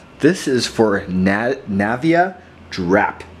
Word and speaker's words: Drapt: is for net Navia drap yeah I know it's felt dr a TP but everywhere i've looked online it says drap is the proper way to pronounce it this is a like